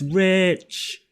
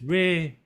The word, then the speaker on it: rich: I feel like when you bring in the ch, it gives it more edge to the sound, and it's not just fading out like that's re.